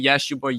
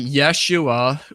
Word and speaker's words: Yeshua: And that word Jesus comes from a Hebrew word, and the Hebrew word is spelled it sounds like Yeshua or Yehoshua.